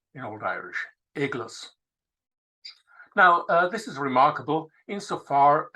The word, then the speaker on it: eclas: it very clear that the look at the pronunciation of the word was igles in Old Irish eggless now this is remarkable insofar as a good